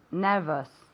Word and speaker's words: nervous: nervioso one more time nervous okay very good nervous remember that even though it's an ous we pronounce it like us okay like okay no